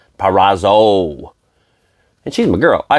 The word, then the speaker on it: Purrazzo: Purrazzo. I always say Purrazza. Purrazzo.